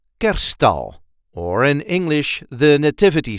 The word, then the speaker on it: Kerststal: a regular Dutch accent Kerststal, or in English the nativity scene. This is how we say Kerststal. Kerststal. The emphasis is on the first syllable.